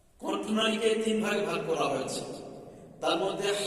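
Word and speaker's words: حاء: না জিম জিম জিম হা কন্ঠনালীকে তিন ভাগে ভাগ করা হয়েছে তার মধ্যে হা উচ্চারণ হবে ওস্তে হালকা থেকে এই কন্ঠনালীর মাঝখান থেকে হা গলাটা চামড়াটা টেনে পড়েন হা উচ্চারণ ঠিক হয়ে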